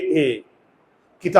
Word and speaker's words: এক: আমরা কি বলি এক এখানে কিন্তু অ এর উচ্চারণ হয় নাই তুমি যদি সিঙ্গেল ভাবে উচ্চারণ করো ক ক সিঙ্গেল ব্যঞ্জন বর্ণ তাহলে একটা অ এর উচ্চারণ হয়।